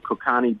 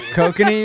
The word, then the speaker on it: Kokanee: We got some Kokani beer. Oh, Kokanese? Kokanee, you mean? Kokani, whatever. I don't know. Is that how you pronounce it? Yeah, kokanee.